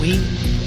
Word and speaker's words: Oui: There was Chic, Cherie, and Oui, or Chick, Cherry, and Howie, as my friends and I mispronounced them.